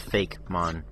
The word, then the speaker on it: Fakemon: Just spelled Fakemon, but most people pronounce it Fakemon. Because Pokemon is spelled the same way, except for you...